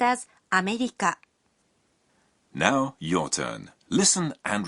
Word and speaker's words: アメリカ: America is pronounced as アメリカ.